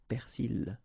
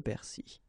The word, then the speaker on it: persil: In some cases, you can hear persil. Okay, but normally it should be le persil.